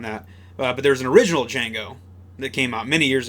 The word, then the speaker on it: Django: And he's like, "It's Django. The D is silent."